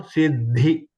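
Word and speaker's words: सिद्धि: So we have to pronounce the alpa prana dha off Mahapranada full. So Siddhi. Siddhi bhavatu me sada. We say Siddhi.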